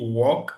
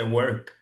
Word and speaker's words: work: en Afrique comme ailleurs dit walk pour parler du travail. Mais bon, la bonne prononciation c'est work. Work, c'est comme le le monde world world c'est world.